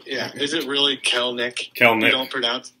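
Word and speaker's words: Kelenic: Kalenic. You don't pronounce the second E.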